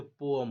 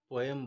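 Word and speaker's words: poem: यूज करते हैं, और इसका सही उच्चारण जो होता है वो बहुत लोग नहीं कर पाते, जैसे पोअम होता है। ठीक है। पोएम बोल देते हैं, हम लोगों को आदत पड़ गई है बचपन से बोलते बोलते।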